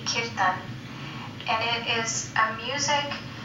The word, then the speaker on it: kirtan: Yes, well, the term is from India, and although we say in the West, we say kirtan, in India, the pronunciation would be kirtan.